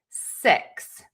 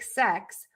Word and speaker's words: six: So, just know that in America, we pronounce those words differently. And the word six is going to have a more closed mouth and the tip of your tongue is going to be high and behind your top teeth, but it is not touching.